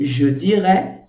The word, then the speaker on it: dirais: olhe, a gente pronuncia do mesmo jeito. Je dirais, je ne dirais pas, je ne dirais pas.